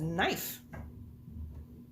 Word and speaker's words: knife: yeah five two neck that is knife it has a silent k on the front of it go and cover up